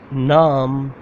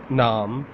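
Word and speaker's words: نام: Second one, naam. How to say naam? Noon alif meem. Naam.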